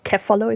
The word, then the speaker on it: Pachycephalosaurus: Could also be like you name it after something like the I think it's one of the Pachycephalosaurus or Cephalo, if you want to pronounce the C to K.